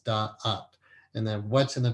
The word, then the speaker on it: Da'at: Like, why is it 2 syllables, da'ath?